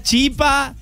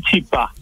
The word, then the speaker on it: chipá: decir el chipá, la chipa, chipá? ¿Cuál es la pronunciación correcta? La pronunciación es el chipá.